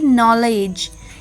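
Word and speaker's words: knowledge: एन ओ डब्लू एल ई डी जी ई नॉलेज के एन यू सी के एल ई नकल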